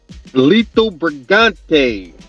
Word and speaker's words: Lito Brigante: Lito Brigante.